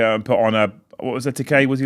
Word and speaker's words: Ekitike: Although I will say, is it Ekitike? Am I saying it right? Ekitike, thank you.